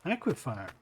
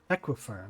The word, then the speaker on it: aquifer: It just means more pipes because on the aquifier aquifer, not aquifier. Equifer, that's how you say it.